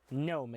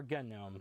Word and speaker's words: GNOME: We're covering Fedora Workstation 42, which is the GNOME edition, or GNOME. The developers say you can pronounce it either way. Either way is fine with them.